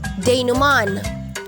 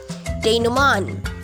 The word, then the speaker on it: denouement: Una ay denouement na may N. Ang stress ay nasa 3rd syllable. Denouement. O kaya naman ay pwede rin yung denouement na walang N sa dulo.